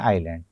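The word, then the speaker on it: island: आईएस एल एन डी उस हिसाब से तो इजलैंड होना चाहिए किंतु हम उच्चारित करते हैं आइलैंड अगर आपने इजलैंड बोला तो आसपास के लोग घूरने लग जाएंगे कि ये क्या शब्द बोल रहा है?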